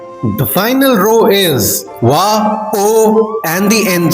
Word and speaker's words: を: The next character is o. O. This is O, written as WO but pronounced as O.